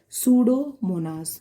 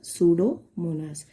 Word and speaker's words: Pseudomonas: is done by the pseudomonas p is silent it is done by the pseudomonas and what is this